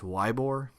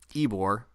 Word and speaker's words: Ybor: And this was played in Tampa, and it's an homage to Ybor City, which people look at and pronounce as Ybor. It's actually Ybor, Y-B-O-R.